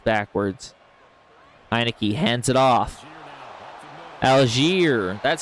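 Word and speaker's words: Allgeier: Alier, that's how you say his name.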